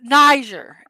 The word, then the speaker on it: Niger: Yes, Niger. That's how it's pronounced, and people want to pronounce it with a hard G, and it's not. It's Niger or Niger. No, I think it's like a J sound.